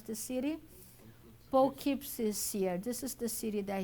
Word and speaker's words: Poughkeepsie: Clairvoyant and healer, becoming known as the, how do you pronounce the city? Poughkeepsie.